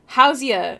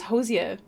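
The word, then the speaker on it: Hozier: you did it wrong hoia is how it says to pronounce hoia I thought it was Hosier Hosier I think is how I always said it great rag your passion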